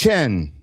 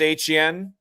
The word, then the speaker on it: Etienne: If uh you know, if How do we pronounce his name? I need to know that. Uh Travis Etienne.